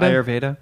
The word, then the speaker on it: Ayurveda: with me today how do you say it ayurveda ayurveda okay orur dick okay okay so so this